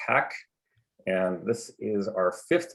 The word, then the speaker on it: HAC: committee which goes by the acronym hac or pronounced hack and this is our